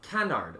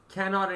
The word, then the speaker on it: canard: French um it's Canard it's Canard that's with an American accent because usually you don't really pronounce the r d it's like can can okay and how did